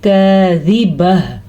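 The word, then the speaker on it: كاذبة: باریک کاف ہے تو اس کو باریک ہی پڑھیں گے، زال کو لمبا نہیں کریں گے، زال کے نیچے زیر ہے، با پہ زبر ہے تو لمبا نہیں پڑھیں گے. البتہ وقف کی وجہ سے گول تا ہا بن جائے گی تو اس کو ہم پڑھیں گے کاذبہ.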